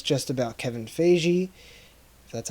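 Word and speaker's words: Feige: was a misunderstanding and it's just about Kevin Fei Jie so that's how you say his name for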